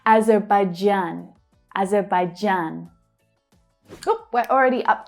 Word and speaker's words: Azerbaijan: Now, I always thought it was Azerbaijan, the j as in vision, not j as in jam. But there you have it. I was pronouncing it wrong. Azerbaijan.